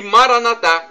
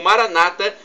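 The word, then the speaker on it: Maranatha: E Maranatá, como dizemos nós católicos, ou Maranata, como dizem nossos irmãos separados, os evangélicos ou protestantes.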